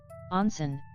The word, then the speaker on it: onsen: In Japan, onsen, pronounced o-say, are hot springs and the bathing facilities and traditional inns around them.